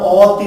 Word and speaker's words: অতি: বিকল্প এই জন্য হতে পারে শিক্ষার্থী বন্ধুরা, যে অ এর উচ্চারিত রূপ কিন্তু ও এর মতো হয়। জানো কি তোমরা? যেমন দেখো অ তয় রস্বই, কিন্তু এর উচ্চারণটা আমরা অতি বলি না, কি বলি?